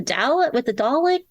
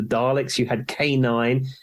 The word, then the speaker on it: Dalek: that's called "I'm Gonna Spend Christmas with a Dalek."